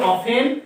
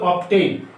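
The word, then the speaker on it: often: তারপরে ধরো অফেন অফেন এটার দুইটা উচ্চারণ আছে একটা হলো অফেন আরেকটা হচ্ছে অবটেইন দুইটা দুই রকমের উচ্চারণ করা যায় অফেন এটা হলো ব্রিটিশ আর অবটেইন হলো আমেরিকান বুঝছো ল্যাঙ্গুয়েজের উচ্চারণ প্রোনাউন্সিয়েশন দেখো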